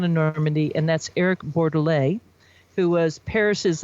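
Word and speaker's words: Bordelet: makers coming out of normandy and that's eric borderlay who was paris is like top sommelier for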